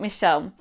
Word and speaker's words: Michelle: I was born in Australia and my Italian dad named me after my nonno, Michele. But in Australia, you just pronounce it Michelle.